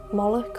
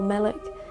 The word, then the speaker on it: Moloch: king and the nim moloch derives from a hebrew word which is pronounced as molok or malik and stands for king